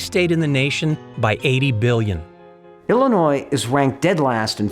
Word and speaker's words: Illinois: because we Lincoln believe Illinois is worth saving and here's why by the way the S is silent and there's an ongoing